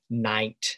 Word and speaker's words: night: words it disappeared like in the word night and light where we have a gh spelling in the middle that's not pronounced well that represented a